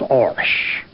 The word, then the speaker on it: Irish: from Northern Ireland and they were using the old old-fashioned pronunciation which a few of us continued to use and they call themselves aurash they said was which